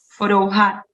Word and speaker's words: Forouhar: Vela, ¿cómo lo pronunciaría? Forouhar.